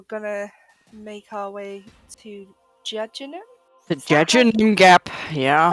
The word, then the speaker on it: Jejunum: And then we're gonna make our way to Jejunum? The Jejunum Gap, Is yeah. that how you pronounce it? Jejunum?